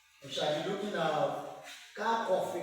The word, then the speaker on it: Kirchhoff: We shall be looking at Kirchhoff. We call it, some people call it Kirchhoff, but I pronounce it as Kirchhoff rules.